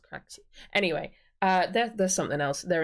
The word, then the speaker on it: Craxy: It's pronounced Craxy.